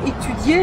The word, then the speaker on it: étudier: Hein, le verbe étudier, le i se prononce. Il se prononce.